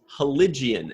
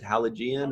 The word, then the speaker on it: Heligen: uh elegant tongue sauce i mispronounced that one too it's heligen and as soon as i started saying i was like i'm not going to restart it i'm just going to i'm just going to go i'm just going to go with it so everybody at home i know i mispronounced it it's heligen i don't know what i called it i think i said halogen or something like that yeah it's hollywood religion